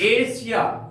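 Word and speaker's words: Asia: अनुसार होगा जैसे एग्जांपल लेते हैं हम लोग एशिया ए एस आई ए यहां पर एस के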